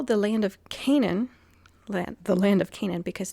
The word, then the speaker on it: Canaan: It's pronounced Canaan. There's two A's for a reason. It's not just to, throw another A in there.